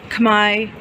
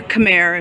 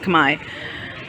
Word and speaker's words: Khmer: architecture is called new Kamai architecture or Khmer if you're pronouncing it literally um in Cambodia though it's pronounced Kamai so here we go